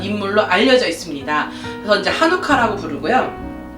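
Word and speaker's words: חנוכה: 하누카는요, 이스라엘 발음, 히브리 발음을 하누카예요. 하누카.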